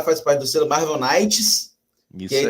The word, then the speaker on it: Knights: O K é mudo. Não faz isso com professor de inglês, não. É Marvel, Marvel Knights. Nights cai mudo.